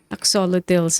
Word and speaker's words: axolotl: the books that She has written Yeah, those axolotl. two. My daughter is very curious and loves axolotls as well. I'm Yeah.